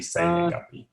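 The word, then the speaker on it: 生年月日: So is that a word in itself for date, or does it always need to be say nengapi?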